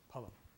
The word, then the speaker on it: phalam: The accent is on the first syllable, pulum.